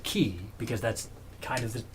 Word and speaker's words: Chi: they can create the chi bleh well this is so if I mean the Greek letter that looks like an X and they pronounce it ki because that's kind of